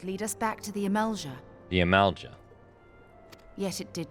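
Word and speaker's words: Amalj'aa: The Amalja. Summoning a fleet with such crystals as they have hoarded. That's how you pronounce it.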